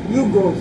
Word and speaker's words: Hugos: ano ba tama ba I pronounce ko hugos hugos tama na bisaya kasi Uy pasensya na day